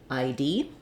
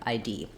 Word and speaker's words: ID: I being the diphthong I, and D being the D and E sounds together, ID. In an abbreviation like ID, we stress on the last letter of the abbreviation.